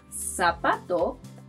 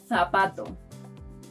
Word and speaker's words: zapato: In most countries, it's pronounced like the soft version of letter C. But in Spain, this letter is pronounced th.